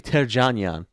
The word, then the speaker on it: Terjanian: Terjanian. Hey. Do you do Terjanian or Terjanian? Well, technically, I found out it's Terjanian. It's supposed to be Terjanian. Terjanian.